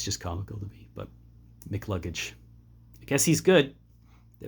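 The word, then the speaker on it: McCluggage: this guy's name because you don't pronounce both C's when you say it, so it just sounds like Mick Luggage. And yeah, it's just comical to me, but Mick Luggage.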